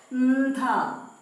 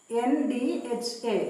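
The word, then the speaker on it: ന്ധ: Pronounce it as ndha. Na and dha together. Ndha. Pronounce it as indha.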